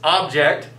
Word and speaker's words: object: And so we very often say the word differently because of the stresses. Object versus object.